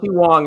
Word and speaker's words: Wang: It's how it's how she Wang, is it not his name? Yeah, how Wong is what we're getting told.